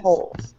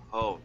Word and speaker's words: whole: Many non-countable nouns refer to while A that is whole. whole. Yeah, the W is silent in that word.